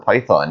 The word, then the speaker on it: Phaethon: Now next up, Phaethon, or Python is actually how you pronounce it apparently, at Gyeongju World, a very, very forgotten B&M invert in South Korea.